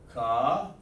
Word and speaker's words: Qadash: Qadash.